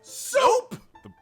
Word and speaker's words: Cioux: Soup! The brothers soup? Like the food soup? Similar, spelled differently. It's spelled Cioux. It's Creole.